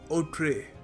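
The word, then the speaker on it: outré: देखिए इसको प्रोनाउंस करते हैं। ओठ्रे। ओठ्रे फ्रेंच वर्ड है।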